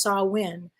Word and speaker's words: Samhain: goes back to this ancient Celtic festival called Samhain. If I'm pronouncing it incorrectly, let me know. It's spelled Samhain, but it's pronounced Samhain.